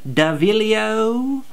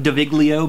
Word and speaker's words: Daviglio: Davilio! Spelled like Daviglio, but don't say it that way, because no one likes that.